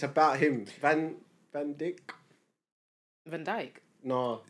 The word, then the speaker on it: Van Dyke: It's about him, Van Dyck. Van Dyke. No, Van Dyke.